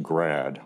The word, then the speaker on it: grad: is you've got this awesome upside down triangle symbol that is pronounced grad i'll write that out